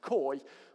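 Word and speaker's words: Kooij: Her name's Sandra Coy, but it's spelt Coage, because I think she's Dutch.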